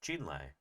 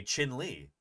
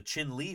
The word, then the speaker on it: Chinle: It's Navajo. It's not Spanish. So yeah, that's what Jeff told me. Um and suddenly it makes sense. Chin Lee formation.